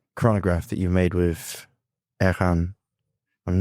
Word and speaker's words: Airain: that chronograph that you made with Ahan, I'm not getting any closer to saying it right, am I keep saying the same thing. Okay. Um, Air Rain, as we'd say in England, um, is gorgeous.